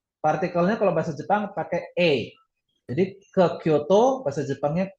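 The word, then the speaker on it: へ: Ini bukan Kyoto he tapi Kyoto E ya.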